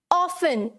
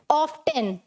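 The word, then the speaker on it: often: है, जैसे क्या है, ऑफन, पहला वर्ड मेरा क्या है, ऑफन। अब कुछ लोग इसे कैसे बोलते हैं, ऑफ्टन, क्या बोलते हैं, ऑफ्टन।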